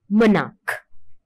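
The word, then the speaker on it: monarch: அதே மாதிரி மொனாக் என்ற வேர்ட் எடுத்தாலும் CH என்ற லெட்டர்ஸ் நாங்க ப்ரொனவுன்ஸ் பண்றோம் மொனாக். க என்ற சவுண்ட் தான் இதுல வருகின்றது.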